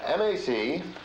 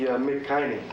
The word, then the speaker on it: machine: That would be McHiney. That would be McHiney, would it? That would be McSteak. That's machine.